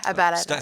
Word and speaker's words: Abela: Yeah, Abela.